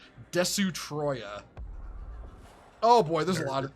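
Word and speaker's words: Destoroyah: to name it the the literal pronunciation of of a destroyer in in Katakana which is des Troya oh boy there's a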